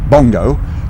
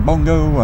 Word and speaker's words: Bongo: and a name Ali was the right name, see, and I decided to make it Bongo, to rhyme with Pongo, because I sang a song in the playing.